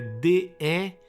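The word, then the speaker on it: daemon: Demônio é D-E-M-O-N. Isso é D-A-E-M-O-N. Mas você pronuncia igual.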